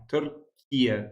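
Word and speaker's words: Türkiye: Turia, that's how you pronounce it.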